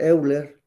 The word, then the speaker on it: Euler: de Pisa eh Leonard Euler o eiler también se le pronuncia eh era más eh